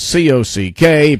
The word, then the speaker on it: C.O.C.K.: And as I said at the very beginning of the show, the initials of the band is C.O.C.K., pronounced cock.